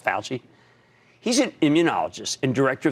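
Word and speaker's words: Fauci: Tony Falchi that's FAU ch CI at the UCI but it's pronounced pal G he's an immunologist and director of the National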